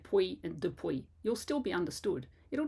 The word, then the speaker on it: depuis: Do you find yourself saying words like puis, P-U-I-S, then, or depuis, since, D-E-P-U-I-S?